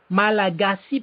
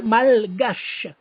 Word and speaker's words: Malagasy: En anglais, ça se prononce très bien, Malagasy people. On ne dit pas malgache.